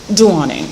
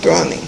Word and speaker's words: Douoning: Douoning. Douoning.